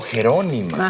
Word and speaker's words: Jerónima: Oh, Jerónima. Ajá. Acento en la O.